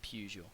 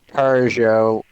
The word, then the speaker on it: Peugeot: yeah I know but there's no R it's Peugeot it's pronounced it's pronounced Peugeot there's no r